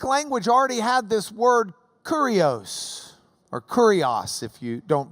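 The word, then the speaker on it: κύριος: The Greek language already had this word kurios, or kurios if you don't pronounce it like you're from Lubbock. Kurios. Kurios.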